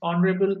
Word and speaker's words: honorable: So, guys, we all know that in these words are honest, honorable, heiress, okay, honorary, the H is silent, and the dominant sound is of O.